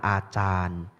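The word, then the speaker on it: Ajahn: Ditulis pakai J, sebenarnya bacanya C, itu bahasa Thai. Baca yang benar adalah Achan. A-nya panjang ya, A yang kedua panjang Achan ya.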